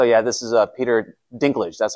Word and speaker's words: Dinklage: a second so yeah this is a Peter Dinklage that's how you pronounce his name the one from Game of